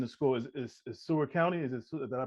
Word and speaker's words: Seward County: Is Seward County? Did I pronounce it right? Yes, sir. Seward County.